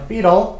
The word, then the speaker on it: fetal: During, 언제 동안이면요, 이게 발음이 fetal이거든요. fetal, 그래서 태아의, 태어나기 전을 얘기해요.